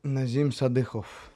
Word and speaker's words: Nazim Sadykhov: Nazim Sadykhov.